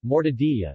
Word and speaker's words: Mortadella: Mortadella, Italian pronunciation, mortadilla, is a large Italian sausage or luncheon meat,